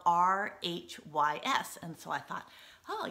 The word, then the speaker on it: Rhys: of a cool name rice right so the whole time i i read it um i thought his name was rice but um apparently it's pronounced rhys so then i had